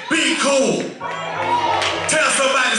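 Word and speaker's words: chuwl: there uh it said it's spelled c-h-u-w-l but it's pronounced cool somebody say cool yeah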